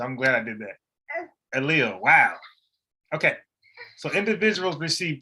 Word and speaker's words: allele: Now, I think I know how to pronounce this word, but let me just be sure, because YouTube, the internet is petty. Allele. There you go. So I wouldn't even say that. Allele.